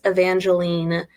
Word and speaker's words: Evangeline: But in my head, I pronounce Evangeline with that, like the Evangeline, so that therefore Ava is Ava, which I know sounds like it should be the AVA.